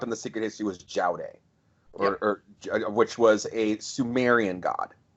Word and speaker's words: Judy: Judy, the basic idea I think of Judy was and it's pronounced, and they bring it up in the Secret History, was Jowday, which was a Sumerian god.